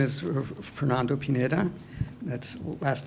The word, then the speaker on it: Pineda: full name understood right my name is Fernando Pineda that's last name is spelled p-i-n-e-t has in David a um and